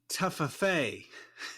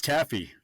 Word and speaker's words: Taffy: o Connell Yes actually her name looks like taffa reminds me you said it right it's Taffy is it it's Taffy